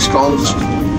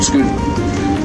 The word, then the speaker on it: Scone: Queen of Scots, there's a little place called Scone. It's spelled the same way as scone.